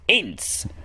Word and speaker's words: Ince: So it's Ince. That's how you pronounce it.